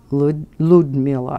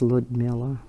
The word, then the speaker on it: Liudmila: Liudmila, I think is how it's pronounced. Even though it's L-I-U, I think it's Liudmila.